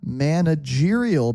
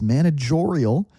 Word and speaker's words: managerial: I I work in a managerial position. He mispronounces it. It says managorial should be managerial meaning he manages the